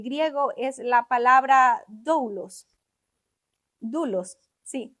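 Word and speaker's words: δοῦλος: Dulos. Sí, dulos en el griego, ¿no? Yo digo dulos. Así se escribe, pero es es dulos la palabra dulos.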